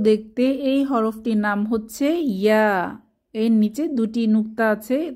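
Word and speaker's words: ياء: জিহ্বার মধ্যভাগ তার বরাবর উপরে তালুর সাথে লাগিয়ে উচ্চারিত হয় ইয়া। তবে ইয়া উচ্চারণের সময়ও তালু থেকে জিহ্বার মধ্যভাগ কিছুটা পৃথক থাকে।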